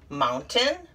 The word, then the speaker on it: mountain: when we're practicing phonics but in these words we take the a i and we shorten it into a short i sound why i don't know so here is how they should be pronounced mountain certain curtain and fountain yeah all of them have a short i sound and not a long a sound and c right here